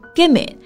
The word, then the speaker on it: gimme: Okay, gimme is give me, right? Yeah. 对，在这个口语中有一个 give me 给我，会直接连读成 gimme.